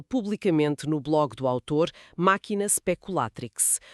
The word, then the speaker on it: Machina Speculatrix: Está disponível publicamente no blog do autor Máquina speculatrix. Uma última vez a pronúncia latina máquina speculatrix.